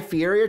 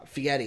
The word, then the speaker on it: Fieri: Tried something new, Guy Fieri, trying to flavor town it, trying to give it a little flavor. Fieri, that's it.